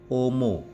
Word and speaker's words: homo: diikuti n menjadi ng membacanya huruf ha ha dalam bahasa Latin tidak diucapkan misalnya homo itu diucapkan Ungu mihi diucapkan Mei jadi ha itu luluh hilang Wow kita menjumpai huruf